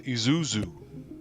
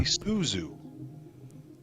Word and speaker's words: Isuzu: Japanese car right there a Isuzu no it's Isuzu ISU yeah mind you isn't